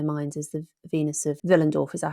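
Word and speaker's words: Willendorf: picture in their minds as the Venus of vill andorf is that how you say it yes what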